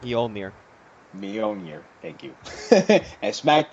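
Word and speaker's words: Mjölnir: Mjolinir. Mjolnir.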